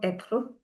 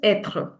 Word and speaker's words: être: All right, so everyone, today we'll start with verb être.